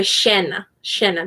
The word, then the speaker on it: llena: And I had learned to say estoy llena, but in Uruguay you would say estoy llena, because the double L or the Y is pronounced like an SH in Uruguay.